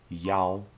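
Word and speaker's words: 幺: number the pronunciation for the number one changes from e e sounds very similar to the number seven chi so to avoid any confusion when reading a string of digits and a number the pronunciation of number one is yao for example a few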